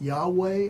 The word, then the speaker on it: Yahweh: the pronunciation of the Tetragrammaton how do you pronounce that is it yahweh or is it yet over and he looked